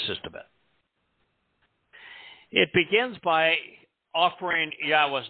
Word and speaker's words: Yahweh: provided to us in Torah and it is Yahweh there is no question that is how it's pronounced and there is no question that God